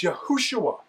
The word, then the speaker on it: Yehoshua: But, it's not Yeshua, it's Yehoshua. So, we know that it's